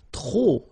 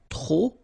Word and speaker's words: trop: If you want to use trop, and trop means too many, okay? Then you will have to put de and the noun without the article, okay? Remember, too many, trop, don't pronounce the final P.